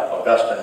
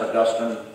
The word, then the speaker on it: Augustine: Some of the Bible teachers like Augustine leave the E off and it's Augustine, put the E on, it's Augustine. That's how you would pronounce it, but maybe it's Augustine, that's fine.